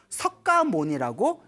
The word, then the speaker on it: 석가모니: 한문 문화권 중국으로 넘어오면서 석가모니라고 이제 필기가 되었고 우리는 발음하기를 이제 똑같이 석가모니라고 이제 발음을 하고 있습니다 알겠죠 그래서 석가족에서 출현하신